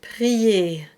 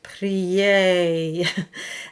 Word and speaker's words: prier: So for example, in the word prier, prier, the A stays almost in the same space as I, prier. And if you open, you would get prier, and the diphthong would come in.